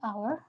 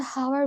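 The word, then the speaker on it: hour: ইউজ করি like এই ক্ষেত্রে আমি যদি বলি আওয়ার আমি যদি বলি অনেস্ট রিমেমবার আমি কিন্তু হাওয়ার বলিনি আমি কিন্তু হস্ট বলি সাউন্ড আওয়ার যেহেতু আমাদের মুখনিশ্রিত শব্দটার উচ্চারণ হচ্ছে অ এর মত।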